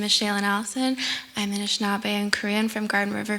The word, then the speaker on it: Anishinaabe: talk is called, this is a tough one, Anishinaabe? How do you pronounce it? Anishinaabe, yeah. Anishinaabe, Drumming and Visual Art, Engagements and Influences.